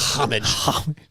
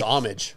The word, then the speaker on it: homage: It actually was like homage. It was actually like I think it's homage. I think the H is silent.